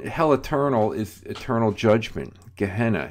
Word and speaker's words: Gehenna: Okay, so hell eternal, it's pronounced Gehenna. The Greek word looks like Gina almost, Geena, but it's pronounced Gehenna.